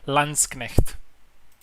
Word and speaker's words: Landsknecht: Let me pronounce it the correct way. Landsknecht.